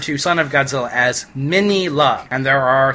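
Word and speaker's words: Minilla: And secondly, the Japanese pronunciation of his name is Minira. And thirdly, the traditional pronunciation of his name, Manila, is terrible.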